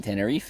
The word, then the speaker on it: Tenerife: You were in Tenerife. Yes, I was, and you- thank you for pronouncing that properly.